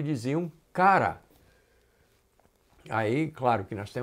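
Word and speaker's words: χαρά: palavra cara bom e é pronunciado o cara apesar de ser mais ou menos uma transliteração da palavra c h a r a mas é pronunciado cara e essa palavra ocorre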